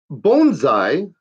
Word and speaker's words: bonsai: Bonsai, as it's properly pronounced, because I'm such a linguist.